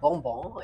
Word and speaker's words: Bonbon: So this cute style by Belle Tress is called Bonbon or Bonbon, if you pronounce it the French way.